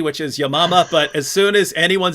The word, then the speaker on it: Yamama: And writing on this, which Hatun just mentioned, the Battle of, I say Yamama, that she pronounced it correctly, which is Yamama, but as soon as anyone says Battle of